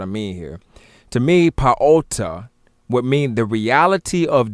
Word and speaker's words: Ptah: To me, what I see through linguistic study and through cosmological study and whatnot of our people, the proper pronunciation of what you say Ptah, it would be Paota.